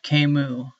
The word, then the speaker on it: Camus: Today, I'm going to be getting under the covers of The Stranger by Albert Camus, or as it's properly pronounced, Albert Camus, I believe.